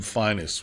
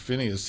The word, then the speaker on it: Phineas: And he pronounced his name Finus.